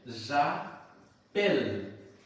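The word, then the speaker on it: j'appelle: তাহলে প্রথমটা হয়ে যাবে জা পেল, এল লাস্টিক উচ্চারণ হচ্ছে এল, ঠিক আছে।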